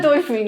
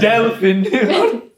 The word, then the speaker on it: delfín: No, it's not dolphin. And then pronounce it for us, Jeff. Yeah, he's not. Delfin.